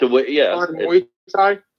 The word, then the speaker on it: Muay Thai: It's not Muay Thai. It's Muay Thai. Muay Thai. I don't really care how to say it, Danny. I say Muay Thai, okay?